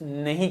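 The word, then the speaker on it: know: बाद एन लिखा है तो कनो नहीं बोलेंगे क्या बोलेंगे नो क्योंकि के का साउंड नहीं आएगा जी लिखा है उसके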